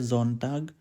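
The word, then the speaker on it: Sonntag: word we will learn also this word their zone tag sunday don't talk it's also a name in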